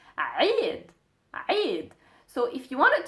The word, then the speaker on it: Eid: As you write it in English, it's Eid, like that, but we pronounce it as a Eid.